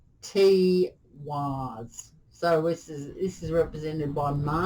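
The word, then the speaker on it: Tiwaz: Okay, so this is pronounced T-Waz.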